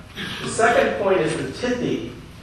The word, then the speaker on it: Tithi: The second point is the Tithi. It's sometimes pronounced Titi, so it almost sounds like a titty. Depending on what part of India you're in.